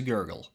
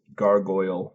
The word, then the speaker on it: gargoyle: On this episode of This is Game Boy, we get as stoned as a gurgle. It's pronounced gargoyle, Mo. What? It is gargoyle, not gurgle. Gargoyle.